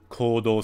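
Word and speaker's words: 行動: Yeah, Igneal, you're right, but there's actually a long U sound. Kodou suru. Kodou suru. So there's a long vowel sound with a U, a U, for both the ko and the do.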